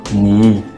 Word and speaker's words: 你: This one is 呢, this one is 以. 呢, 以, 你. Okay? Yeah. 你. 你.